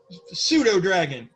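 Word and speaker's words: pseudodragon: So if you're watching this video, pseudo dragon. Yeah, because the P is silent because I'm a dumbass.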